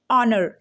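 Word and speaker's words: honour: मैं भी पढ़ती थी हनर मैं भी इसको हनर हनि यही पढ़ती थी लेकिन यह होता है ऑनर क्या होता है यह ऑनर ऑनर एच को क्या करना है साइलेंट कर देना है ठीक है च क्या होता है हमारा साइलेंट होता है और इसको करना है साइड में तो अब एच को हटा के पढ़ना है ऑनर नेस्टी बिल्कुल भी नहीं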